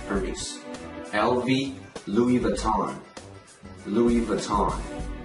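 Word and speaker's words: Hermès: 卡地亚 Cartier, Cartier, 爱马仕 Hermes, Hermes.记住那个 H 一定不能发音因为法语里面 H 是不发音的所以不能读成 Hermes LV Louis Vuitton Louis Vuitton Gucci Gucci Gucci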